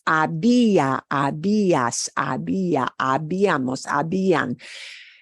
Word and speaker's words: había: When you're reading it, if it goes into the imperfecto, it's había, habías, había, habíamos, habían. You can read, but when you're listening for it, that H is silent.